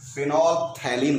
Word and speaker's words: फिनॉल्फथैलीन: पीएच को silent करिए, एथैलीन। फिनॉल्फथैलीन कहते हैं इसको।